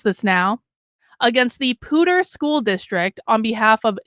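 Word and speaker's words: Poudre: legal file the lawsuit on Wednesday against the Pooter I have learned how to pronounce this now against the Pooter School District on behalf of Jonathan and Aaron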